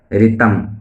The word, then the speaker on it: ऋतम्: फिर नित्यं ऋतम्, इसका उच्चारण ऐसे करें जैसे 'ऋषि', ऋतम् वाच्मि, 'वच' और 'मि' का अलग-अलग उच्चारण करें, 'वच' का अलग-अलग उच्चारण करें।